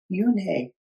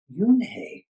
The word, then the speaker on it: Unhei: "Yes, it's pronounced Yoonhei." "And it means grace," Mr. Kim added. "Yoonhei," Joey said slowly, and this time perfectly.